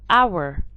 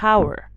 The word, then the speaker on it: hour: I have hour, not hour. I have ghost, not ghost. So here in these words the H is silent.